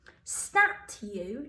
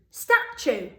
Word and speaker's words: statue: Stat you. Does that sound right? No, in this one, because we've got that U sound at the end, that T makes like a ch sound. So st, ach, you.